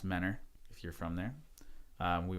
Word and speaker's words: Mentor: I was born in Mentor Ohio it's actually pronounced Manor if you're from there we went to school in manner it's east side of Cleveland east side suburb